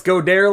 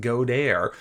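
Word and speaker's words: Goedert: week my man dallas godare last week he went off and yes i know i'm not pronouncing it correctly we're fancy around here so it's pronounced godair anyway great game for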